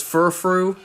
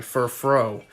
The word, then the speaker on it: Furfrou: Oh yeah, since the last time I played, it has indeed been confirmed that not only is Furfrou, it's not pronounced that way, Furfrou.